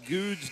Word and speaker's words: Goode: Apparently, I've been saying Marcus Goode's name wrong. It's Goode, Marcus Goode, even though there's an E at the end of his name.